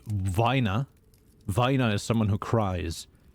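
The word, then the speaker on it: Weiner: i e e I it's always the second one in English that you should pronounce so the top one if you spell it that way is pronounced Vina Vina is someone who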